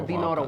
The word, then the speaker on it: Dinora: Just look for Dinora or Dinora if you can, roll your R's.